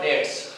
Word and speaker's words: debts: Example देखिए स्टूडेंट्स, we must pay आवर डेट्स. DEBTS इसमें B silent रहता है, डेट्स उच्चारण होगा, डेट्स यानी कर्ज.